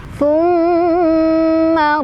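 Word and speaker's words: ثُمَّ: Thumma radadnahu asfala safilin. Thumma di sana ada gunnah, tepatnya gunnah musyaddadah karena ada huruf mim yang bertasydid. Cara bacanya berdengung ya, jadi sampai kerasa ke hidung ditahan.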